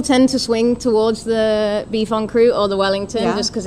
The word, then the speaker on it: boeuf en croûte: I'm like boeuf en croûte. Boeuf en croûte. In French, yeah.